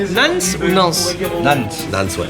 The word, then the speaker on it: Nantes: Comment tu prononces Nance ou Nance? Nantes.